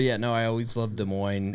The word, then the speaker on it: Des Moines: You know it's pronounced Des Moines.